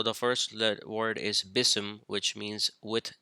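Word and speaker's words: بسم: the chapter one is BISM now here's the pronunciation for that BISM and here are the letters which make up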